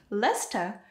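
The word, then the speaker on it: Leicester: your address of course it's 10 Lester Square Lester could you spell it for me of course it's l e i c e s t r again it's more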